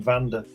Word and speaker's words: Wanda: iron curtain yes well they would pronounce her name vanda and they called her wonder like you did so